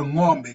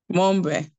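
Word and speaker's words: ng'ombe: When you sing it up there, say, but when it is written in NG, the combination is pronounced as one sound, like in the word sing or wrong.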